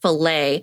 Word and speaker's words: filet: And I was like, you know how like filet is L-E-T? Well, someone who does not speak English well is not going to understand filet is pronounced filet and the A is in its place for some random reason.